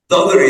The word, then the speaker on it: daughter: والجي اتش سايلنت. التي بقى علشان هي قبلها باو وبعدها باو فهنقولها كأنها دي كده. نقول daughter يعني ابنة والابن اسمه son.